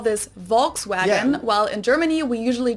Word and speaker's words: Volkswagen: it would be pronounced Volkswagen and not Volkswagen so just imagine that it was spelled with an F V FKS FKS vagen